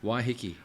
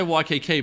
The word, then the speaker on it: Waiheke: Waiheke. Waiheke. I want to say Waikiki, but it's definitely not Waikiki.